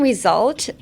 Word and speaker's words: result: So, uh, the S in result is actually a Z sound.